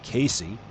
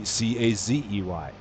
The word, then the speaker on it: Casey: It's spelled Casey, which would lead you to believe that it's pronounced Casey, like Casey at the bat. And it's not. It's pronounced Casey, like it would be Cazey. And again, why is it pronounced Casey if it's spelled with an S?